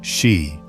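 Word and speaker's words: 四: In Japanese, the number 4 is pronounced shi, a homophone for death.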